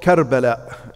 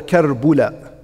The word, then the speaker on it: Karbala: place that was called Karbala. And I'm pretty sure you all heard of that place, right? طيب. Karbala or Karbula. It is, يعني, it can be pronounced both ways.